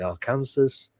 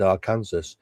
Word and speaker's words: Arkansas: When I went there and I said Arkansas, right, I didn't know it's actually against the law. What? Oh yeah. If you mess up and say Arkansas instead of Arkansas, because it's spelt like Kansas. Yeah.